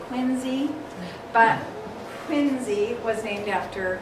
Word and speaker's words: Quincy: and his family have moved from quincy which they don't say it like that in massachusetts they say quincy but quincy was named